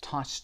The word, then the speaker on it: touched: تلفظ د صدای ت رو داره. Touched به خاطر وجود چه. ما صدای دی رو نمیتونیم تلفظ کنیم و میگیم touch them.